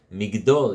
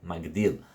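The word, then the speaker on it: מגדול: say in Birkat HaMazon, Migdol Yeshuot Malko, V'oseh Chesed Limshicho, LeDavid uLezaro Ad Olam, which some people on Yom Tov read Migdol, and during the week read Magdil, because there's a Kriyan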